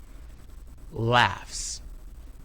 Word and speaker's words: Laughs: Laugh ends in the sound f. F is also voiceless. Laughs.